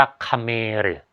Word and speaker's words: เขมร: คำ ใน จารึก ว่า คเมรึ สระเอ ข ไข่ ม้า ร เรือ นะ ครับ อ่าน ว่า คเมริ ซึ่ง กลุ่ม คน กลๆ่